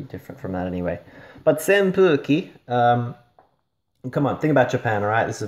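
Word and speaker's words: 扇風機: And normally we pronounce this as hu, but here we have a little maru, all right, a little circle on the fu, so it's a pu, all right, and with an extra u, so senpuki.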